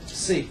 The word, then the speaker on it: Seay: and how do you say your last name c c c Mike C well it's good